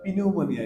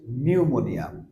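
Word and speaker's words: pneumonia: উচ্চারণ হওয়ার কথা ছিল পি নিউমোনিয়া এরকম হওয়ার দরকার ছিল বাট সেটা হচ্ছে না হোয়াই বিকজ পি এর পরে এন আছে সো এই ক্ষেত্রে আমরা উচ্চারণ করছি নিউমোনিয়া নিউমোনিয়া সেকেন্ড ওয়ান সাইলেন্টি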